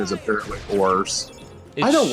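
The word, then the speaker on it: Oars: She does do stuff in the fight with Oz, but I still call him Oz, even though the official pronunciation is apparently Ors.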